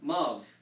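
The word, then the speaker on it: ⲙⲁⲩ: So this letter is pronounced as a V. So the whole word will be pronounced Mav.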